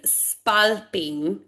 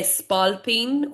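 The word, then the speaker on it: spalpín: So, it is spalping, right? So, and spalpine phono. Um, a lot of people say spalpine.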